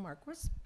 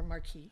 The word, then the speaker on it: Marquis: My name's Marquis, or Marquis, if you want to pronounce it in French.